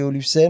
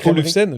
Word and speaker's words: Olufsen: Chacun un petit peu sa sa olfen, je le prononce mal depuis tout à l'heure, je sais pas Olfen, j'ai dit Olfen." Donc Olufsen, pardon.